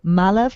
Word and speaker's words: Malav: From Malav Cocktail, who wants to know what your communication background is besides radio. She also says you're wonderful. Oh, thank you. Malav like Olive. That's how you pronounce his name, and that's what was said to me.